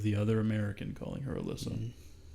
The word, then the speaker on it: Elisa: You said Alyssa. I thought it was Elisa. Elisa Lam. From the one YouTube video I watched, they pronounce it as Alyssa. Okay. It could be Elisa. If it's okay with you, I'm going to call her Elisa.